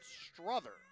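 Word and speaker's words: Strother: new noodle in Grant Struther. Struther, S-T-R-O-T-H-E-R, if you're playing the home game, pronounced like brother, is making his 3rd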